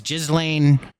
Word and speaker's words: Ghislaine: I don't know how to say her name, but I think it's Ghislaine Maxwell Silverhammer.